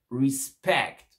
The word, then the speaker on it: respect: prises pour is ok respecte respect ici l'accent tonique et sur la deuxième syllabe pourquoi parce que c'est un verbe crise respecte et pas